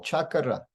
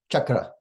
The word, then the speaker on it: chakra: should not be added sometimes in English we almost add an additional syllable to a word like chakra when westerners say this word it can almost sound like there's an additional syllable chakra chakra chakra but uh in Sanskrit chakra chakra chakra two two syllables only Vedic mantras like this